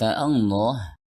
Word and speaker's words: Allah: If we look at the word Allah, it consists of four letters , first Alif, then Lam , then Lam again and finally the letter Ha, don't forget that there